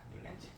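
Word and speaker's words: Newlands: 자, 두 번째는 뮬렌즈라고 하는 과학자. 발음상 그냥 뉴렌즈라고도 있습니다. 뉴렌즈.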